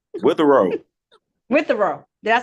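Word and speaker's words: Witherow: say your last name it's your last name with a row with a row did I say it right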